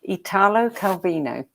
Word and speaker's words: Italo Calvino: Well, book number 3 is Invisible Cities by, and you can correct my pronunciation if you like, Italo Calvino.